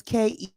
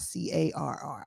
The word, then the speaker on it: Kerr: and it's Kerr, not CARR.